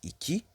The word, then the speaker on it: iki: Donc les nombres, le 1, on dit bir, le 2, on dit iki, le 2, on lit ça iki, le 3, on lit